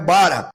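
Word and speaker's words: ברא: partir da análise do verbo bara tá ou bará como alguns pronunciam ali analisando Sobretudo o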